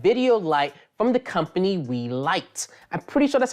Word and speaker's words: Weeylite: In today's episode, we're reviewing an RGB video light from the company Weeylite. I'm pretty sure that's how you pronounce it.